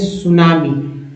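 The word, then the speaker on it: tsunami: एक की हटा दीजिए सुनामी T silent सुनामी and land slide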